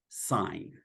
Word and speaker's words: sine: to write sin but they are going to pronounce it sign and that's the history